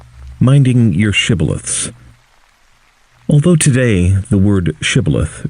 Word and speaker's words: shibboleth: by making him say shibboleth. If the soldier pronounces the word sibboleth, apparently the regional dialect of Ephraim, then he is immediately killed.